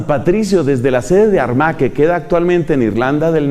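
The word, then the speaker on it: Armagh: sede de San Patricio, la sede de San Patricio fue Armá que se escribe con GH al final. San Patricio desde la sede de Armaque queda actualmente en Irlanda del Norte.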